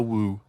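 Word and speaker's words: wewe: It was just W-E-W-E. Let's call it a woo.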